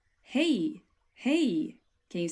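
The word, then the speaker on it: hej: is quite simple and it's pronounced like this hey hey can you say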